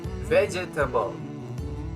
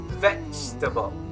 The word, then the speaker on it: vegetable: me vegetable it's not vegetable wrong okay now repeat after me it's like the e is silent so it's going to be vegetable vegetable good moving on